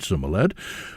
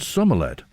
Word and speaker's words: Somerled: King Olaf Godredson's daughters had married Somerled, or in fact, I say Somerled, this is the way it's spelt in the Chronicles. Sorley is another way of pronouncing it in the Gaelic tradition, but Somerled it appears in the Chronicles.